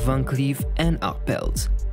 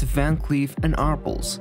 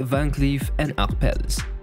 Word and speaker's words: Van Cleef & Arpels: out the history of vancleaf and upbelt that is how you pronounce it in french however in english you can say it van cleef and aarples but to stay faithful to the original let's say van cleef and acpelles now let us get